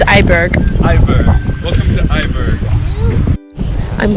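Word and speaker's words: IJburg: It's Eiberg.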